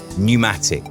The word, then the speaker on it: pneumatic: I was thinking about this silent first letter you know like say pneumatic with a pea at the staff psychiatrist also with a